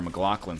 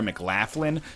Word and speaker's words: McLachlan: an angel here, Sarah McLachlan style. And now it's pronounced Sarah McLaughlin. No, it's not, you know?